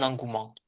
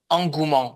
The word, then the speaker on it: engouement: Engouement, on ne prononce pas le e du milieu.